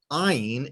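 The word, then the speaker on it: עין: Ayin is silent like talking with your eyes.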